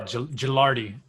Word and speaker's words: Gilardi: Yeah, Gilardi. Gilardi? Yeah, it sounds like a J, yeah.